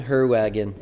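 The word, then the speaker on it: Heerwagen: It's a Dutch-German spelling. Sounds German, apparently looks Dutch.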